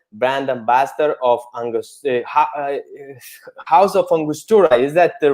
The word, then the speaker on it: Angostura: And Daniyel is a global brand ambassador of House of Angostura.